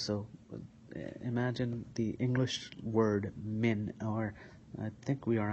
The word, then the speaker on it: min: We're going to say m and we're going to put emphasis on the nasal sound of the min. And we're not going to close our lips.